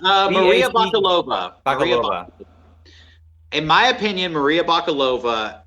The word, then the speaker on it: Maria Bakalova: I can't pronounce it. It's Maria Bakalova. Maria Bakalova.